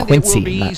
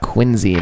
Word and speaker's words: Quincy: Try and not say his name like the town of Massachusetts. It's Quincy Quincy. It's pronounced Quinzy, Massachusetts.